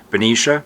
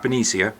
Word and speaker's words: Benicia: So there's Benicia, not Benicia, Benicia.